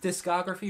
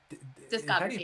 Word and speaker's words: discography: For groups that have such a big discography, is it pronounced discography or discography? Yeah. Yeah. Okay. Such an odd word. Yeah, discography. Because disco's in it, but you don't actually say it like that.